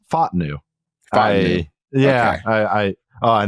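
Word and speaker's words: Fautanu: his name right it it's apparently it's F new yeah I I oh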